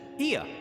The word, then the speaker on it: Ea: When the vibration of vocal folds was still required to convey our thoughts and intention, Ia, I believe, was the pronunciation we used when referring to our people.